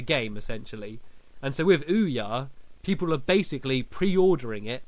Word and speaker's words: Ouya: Um Ouya, pronounced Ouya, is an upcoming video game console running its own version of the Android operating system.